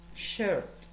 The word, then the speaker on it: shirt: Importante saber que camisa es shirt, con E, se pronuncia con una E.